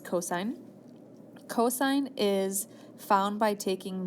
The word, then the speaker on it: cosine: C all the years so that actually is pronounced cosine cosine is found by taking the adjacent leg